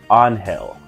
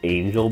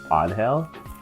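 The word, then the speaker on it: Ángel: pronounced her name as Angel before but there is an accent over the a from what I can notice so I believe it's onhell um I don't know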